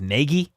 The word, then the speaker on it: Nagy: see him Matt Nagy his last name pronunciation is Negi it's literally the first